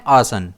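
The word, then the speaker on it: arson: इसे हम प्रोनाउंस करते हैं आर्सन। इसमें स्ट्रेस आ पर रहता है।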